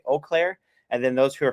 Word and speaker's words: Eau Claire: At least in Wisconsin, it's Eau Claire. Yeah. Around here, you get people who'll call it both ways. You could tell those who aren't from the area, they say Eau Claire, and then those who